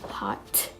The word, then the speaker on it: hot: For example, if we have hot, we are not going to pronounce it as hot. I'm so hot. It's so hot, but we are going to pronounce it like I'm hot, hot, hot, hot.